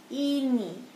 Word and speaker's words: ini: So, we pronounce I as E. Everyone say E. E, ini.